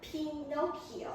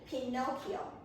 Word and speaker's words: Pinocchio: Okay, I think you got a brief guess, but everyone, please pay attention to the pronunciation, okay? It is called Pinocchio, okay? Repeat after me, Pinocchio.